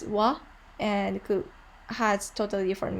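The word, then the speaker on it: は: did you remember that when the ha ha is in between words and word it so it could eat it sound pronounced as wah and could have totally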